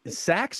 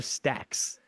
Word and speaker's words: Sax: Oh man, is it Sax or Stacks? It was Daddy Fat Stacks. Oh, I thought it was Sax. It was like he's got gigantic testicles. Yeah, both are right. Yes, it's spelled like saxophone, but.